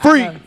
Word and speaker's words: Free.K: didn't know we got free yeah dope chick k is silent huh get on youtube